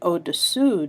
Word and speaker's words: au-dessous: However, there's one slight difference, dessus and dessous. There's the difference of the U sound and the OO sound.